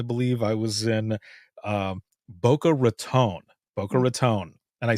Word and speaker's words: Boca Raton: And I said, "It's not Boca Raton, right?" And he goes, "Don't you ever say that again." He's like, "It's Raton." I was like, "Okay."